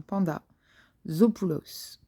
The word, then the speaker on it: Pandazopoulos: Et c'est de Isabelle Panda, comme un panda, Zopoulos. Et Panda Zopoulos en un seul mot.